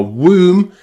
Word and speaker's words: womb: But 2 common words are womb and tomb, and they're pronounced with that oo.